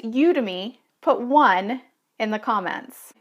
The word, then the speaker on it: Udemy: were pronouncing it was you to me now you think it might be udemy because you think of Academy udemy but it's just